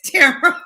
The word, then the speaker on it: Tamara: Tamara, it's Tamara like camera.